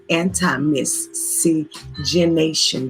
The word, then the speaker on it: anti-miscegenation: to pronounce it correctly so it's mi SC eg in a tion anti-miscegenation bill and the leadership of